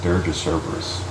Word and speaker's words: Dirge of Cerberus: Dirge of Cerberus.